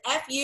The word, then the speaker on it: Fuchs: it's next level, and believe me, I did a deep dive to make sure I was pronouncing her name correctly. I checked multiple sources. It's F-U-C-H-S.